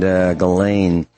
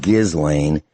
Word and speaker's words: Ghislaine: Rich, you mentioned Ghislaine. It looks like Ghislaine, but I believe it's pronounced Ghislaine Maxwell. And if you look at